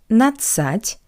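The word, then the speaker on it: надцать: For example, 1 plus natsat, we get 11. 11. The letter D in the ending natsat is not pronounced.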